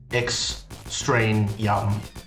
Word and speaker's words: Extraneum: extremium and it's a lot like that extraneous pronounced x strain young created by the little known indie developer david